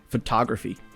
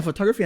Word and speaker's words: photography: data photography M yeah photography has four syllables right yeah you got it phog not three there you go yeah but that's interesting right cuz like in photograph the it's almost the same word but it the emphasis is on the first one photograph photography or